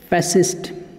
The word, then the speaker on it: fascist: फैसिस्ट। क्या कहते हैं? फैसिस्ट। फैसिस्ट। तो फैसिस्ट मतलब क्या हो गया? स्पेलिंग आप देख सकते हैं, FASCIST, फैसिस्ट। यहाँ पे सी जो है वो साइलेंट है, फैसिस्ट।